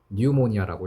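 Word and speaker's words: pneumonia: 감염을 예방하는 것부터 뉴모니아. 피가 무음이에요. 라틴어거든. 뉴모니아라고 읽어요.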